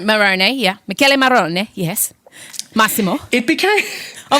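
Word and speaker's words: Michele Morrone: Michele Marone? Marone, yeah. Michele Marone, yes.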